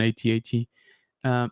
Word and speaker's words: AT-AT: It's comparable to an AT-AT. Yes, it's pronounced ATAT. I don't care what you say.